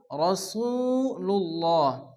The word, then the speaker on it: রাসূলুল্লাহ: অনেকে আছে মুহাম্মাদুর রা পড়ে, রা পড়া যাবে না। আরবিতে 8টি অক্ষরের উপরে জবর আসলে অকার উচ্চারণ হয়, এর মধ্যে র একটি অক্ষর। এজন্য এখানে পড়তে হবে মুহাম্মাদুর রাসূলুল্লাহ। আল্লাহ শব্দ শুরুতে পেয়ে যাচ্ছে, এই জন্য আল্লাহর নামকে পুরো অর্থ আল্লাহ উচ্চারণ করে পড়তে হবে রাসূলুল্লাহ।